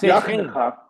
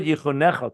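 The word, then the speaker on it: יָחְנְךָ: It's pronounced Yachnecha. It's pronounced Yachnecha. Yachnecha. Okay, I thought Yichunecha.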